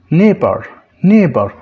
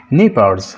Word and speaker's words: neighbor: خلاص يا شباب، ده الجمع بتاعها neighbors، لكن هنا neighbor. الجي اتش هنا ما بننطقهاش، عشان كده احنا بنقول neighbor. الجي اتش هنا silent، ما ننطقهاش.